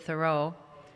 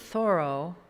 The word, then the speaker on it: Thoreau: watching the Ken Burns thing on Henry David Thoreau, they pronounce it Thoreau, but I'll never remember that.